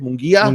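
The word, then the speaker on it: Munguía: it came to boxing absolutely big Canelo fight pronounce the name mongia Mia in mongia there you go it was a great fight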